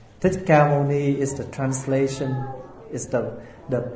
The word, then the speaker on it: Thích Ca Mâu Ni: Usually we pronounce in Vietnamese, Thích Ca Mâu Ni. Thích Ca Mâu Ni is the translation, is the pronunciation from the original term Shakyamuni.